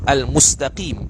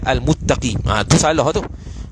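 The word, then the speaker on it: المستقيم: menggantikan tempat bacaan al-fatihah misalnya pada kalimat Al Mustaqim akan tetapi dibacanya sebagai almuttaqin dia baca Muttaqin sebahagian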